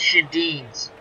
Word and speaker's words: Schoendienst: I can never pronounce his name correctly. I want you to buy 3 more seasons. Schoendienst. It's Schoendienst, isn't it, Clinton?